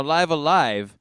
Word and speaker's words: Live A Live: to be pronounced but if you use the japanese pronunciation they meant for it to be pronounced live alive uh not not live alive or liver live but anyway um this